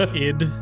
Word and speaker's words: Sid: red and purple I this one is called ID the S is silent um there's Sid of